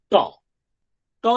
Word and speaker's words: ট: ট যখন উচ্চারণ করছি তার পিছনের বিজ্ঞানটা বোঝার চেষ্টা করুন। ট ট। আমরা যখন টক খাই, টাগড়ি মারি এরকম করে, জিভটা একদম একদম উপর দিকে তুলে দিয়ে একদম উচ্চারণটা করি। দেখুন, ট উচ্চারণ করুন, জিভ দেখুন উপরের দিকের কোনো একটা জায়গায় গিয়ে ধাক্কা মারছে, একদম মোটামুটি 90 ডিগ্রি অ্যাঙ্গেল করে।